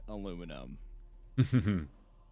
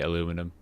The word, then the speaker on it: aluminum: You are writing how you say it, by the way. Aluminum. Oh, really? Mhm. But I just can't get aluminium out my head. It's not a neium at the end.